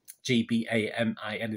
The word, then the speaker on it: Gbamin: Gbamin, that's how you pronounce it, rather than Gray.